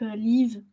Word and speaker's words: Leev: Et du coup, j'ai téléchargé des applications, je sais pas si tu connais, du type Leave, ça s'écrit Leev.